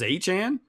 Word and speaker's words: Etienne: I mean, everybody's been saying his name wrong, and I get it because Etienne looks like Etienne and doesn't look like anything like Achan, but that's how we're going to say it going forward.